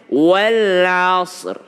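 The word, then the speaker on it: والعصر: berhenti menjadi walashr ya bagaimana cara membacanya walashr walr ro adalah huruf tebal Shad bukan QQ jadi kesalahan keempat ketika membaca Wal asr adalah membuat Shad menjadi qalqala gimana itu walashr dia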